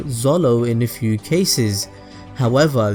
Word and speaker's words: Zoro: Zolo but in reality even in Japanese the pronunciation of zoro's name comes out as Zolo so one can say